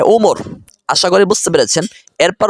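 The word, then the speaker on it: عمر: আর যদি কোথাও লেখা থাকে আইন মিম র শুধু, তারপরে ওয়াও না থাকে, তাহলে বুঝবেন সেটার উচ্চারণ হবে ওমর।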